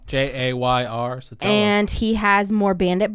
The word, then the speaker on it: Jayr Sotelo: Jayr Sotelo. Jayr Sotelo.